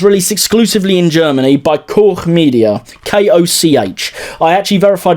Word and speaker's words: Koch: So I watched this on Blu-ray, and this particular Blu-ray was released exclusively in Germany by Koch Media, K-O-C-H. I actually verified with my German neighbour that it is pronounced that way.